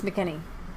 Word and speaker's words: McEnany: So twice during her press briefing, McEnany ran videos in support. I think it's McEnany. No, it's not. It's McEnany. It's McEnany. They say it like this.